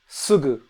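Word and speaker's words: すぐ: Uh generally speaking, I think it's pronounced uh and we're going to use a word sugu. It's not the ooh sound in English.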